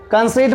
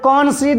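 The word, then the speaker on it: concede: यहां पर देखिए इसे कौन सड नहीं पढ़ना कन सेड नहीं पढ़ना है कन सेड पढ़ोगे गलत हो जाएगा इसे पढ़ना है कंसीड कंसीड मतलब होता है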